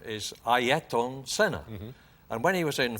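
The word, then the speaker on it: Ayrton Senna: pronounce his name or the way you should pronounce his name is ayaton senna and when he was in formula three which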